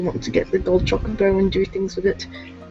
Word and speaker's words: Chocobo: doesn't let you up there without doing the Chocobo minigame, which is another one of the annoying mandatory minigames of FF7, and there are quite a lot. You spend an inordinate amount of time Chocobo racing in this game if you want to